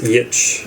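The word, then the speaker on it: Giertz: It starts with a G. Yeah, it's pronounced Yitch.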